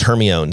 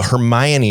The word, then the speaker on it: Hermione: She was Hermione to me. Oh, well, that's what it looks like. Yeah. And I was like, oh, Hermione is how you say that.